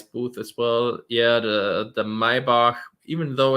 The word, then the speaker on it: Maybach: It's Maybach because it's German.